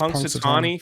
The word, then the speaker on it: Punxsutawney: How do you say this town? Punxsutawney. Did he spell it right? That doesn't look right. Yeah, it's Punxsutawney. Phil Punxsutawney.